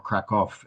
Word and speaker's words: Kraków: Um Krakow or Kov as it's pronounced in Polish is quite far south in the country and in fact do I have my I don't have my pointer.